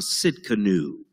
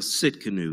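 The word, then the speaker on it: Tsidkenu: facet of god jehovah sid canoe jehovah sit canoe this word has a t the uh t is silent it is t s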